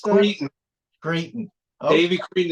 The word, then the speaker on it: Cretin: Cretin, how do you pronounce that? Cretin.